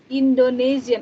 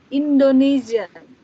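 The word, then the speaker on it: Indonesien: Beda S-nya. Indonesian. Ini S-nya satu, jadi dibacanya agak Z. Indonesian.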